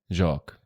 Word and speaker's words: Jacques: Your name is Jacques. like the full name. Jacques. Jacques. It's not Jacques. No, Jacques. But it's written Jacques. Yes, because the S is silent.